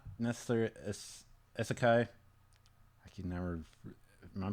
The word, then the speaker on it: isekai: The premise of this story is it's not necessarily isekai. I can never. Am I pronouncing that right?